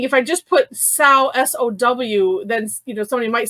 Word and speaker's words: Samhradh: it sarah and i i changed the pronunciation to sow because i'm thinking like like sour sour but but i didn't want to put the r there um because i was